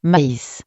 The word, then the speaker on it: maïs: Por ejemplo, A y se pronuncia normalmente E, pero esta palabra se pronuncia maïs, porque hay una diéresis sobre la letra I, igual con esta palabra, que se pronuncia égoïste, Después, los consonantes.